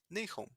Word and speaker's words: Nahum: Y era lo mismo con Nihem o NHM, que son las mismas consonantes que Nahum, que si lo vemos en inglés se pronuncia Nahum.